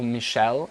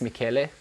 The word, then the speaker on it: Michele: So yeah, this is Michele or Michelle. I think it's supposed to be pronounced Michele.